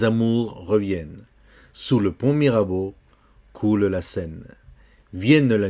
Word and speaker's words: Mirabeau: Sous le pont, on ne prononce pas le T, Mirabeau. Tu sais que E-A-U, c'est O.